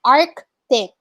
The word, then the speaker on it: arctic: cloth was correctly pronounced arctic you see the c okay you pronounce the letter you see arctic twiston was also correctly